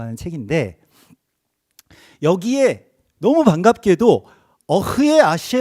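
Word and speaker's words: אֶהְיֶה: 히브리어는 그래서 어흐예, 저희가 어흐예라고 읽는 거예요.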